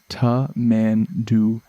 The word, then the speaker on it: Tamandua: say them all quite properly but it is pronounced ta man do and it is often called as well a